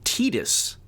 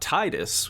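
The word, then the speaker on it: Tidus: Fantasy 10 the main character's name is apparently pronounced tetus and not Titus which I definitely thought it was Titus oh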